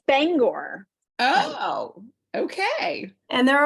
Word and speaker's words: Bangor: People that say Bangor or something instead of that drives Bangor. me crazy. And what is it? It's Bangor.